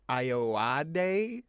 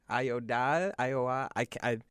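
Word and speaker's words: Ayoade: pronounce that actor's name it's chris iowa day ioda ferg you started pretty confident there and you trailed off pretty quick i was just like jammed right it's a-y-o-a-d-e they'll say just like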